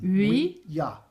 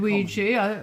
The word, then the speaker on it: Ouija: who hosts Most Haunted, does mispronounce it as Ouija, and that is very Ouija. Sorry, I've said Ouija. It's wrong then. Many do. It is actually Ouija. Ouija, yeah, as it's spelt.